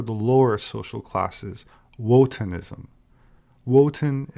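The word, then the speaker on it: Wotan: lower social classes wotenism woten is the german pronunciation of odin liszt claimed that the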